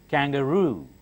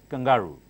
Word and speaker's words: kangaroo: find something unusual I'll tell you this gold kangaroo okay not kangaroo kangaroo okay ruh crocodile is this one hippopotamus